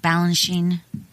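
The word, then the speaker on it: Balanchine: in the book about balance Sheen is that how do you say it Balan Sheen yes George Borge Bine and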